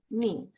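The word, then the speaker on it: 命: text here this or it's pronounced as mean if we look at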